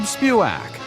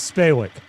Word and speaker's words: Spewak: with your hosts, Spewak and Josh Sroka. And now, ladies and gentlemen, let the show begin. I think the AA guy says my name wrong. I think he says Spawick.